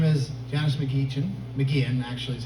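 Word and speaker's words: McGeachin: you in here her name is janice mcgeechen mckeon actually is how you say it spells nikita but it's mcginn and as far as i know i've met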